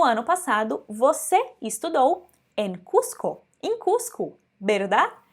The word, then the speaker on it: Cuzco: então a gente tem a pronúncia desses z tá esse z vai só como é sim então a gente disse cusco e não cuzico tá cusco cuzco e